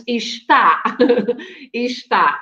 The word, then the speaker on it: está: But then with an accent on the A, it's está, está, which means it is, right? Is. So an accent makes a big difference here.